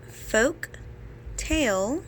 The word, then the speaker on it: folktale: see the letters and folk tale remember has to be a consonant so I'm going to go ahead and highlight the L in folktale because that is the letter that is silent so lucky for me